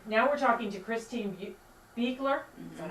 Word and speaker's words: Beuchler: Okay, now we're talking to Christine Beckler. Is that how you pronounce it? Beler.